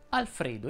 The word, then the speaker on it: Alfredo: con la è aperta alfredo invece va con la è chiusa a media si pronuncia